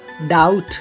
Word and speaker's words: doubt: बी जब कभी वो किसी अगर शब्द के अंत में BT एक साथ आए, BT, तो उसमें भी बी साइलेंट होता है। For example डाउट DOUBT and date DEBT, that means कर्ज होता है।